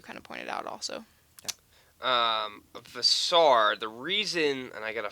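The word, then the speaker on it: Veesaar: I also think, remind me how you pronounce Henry's last name. Visar.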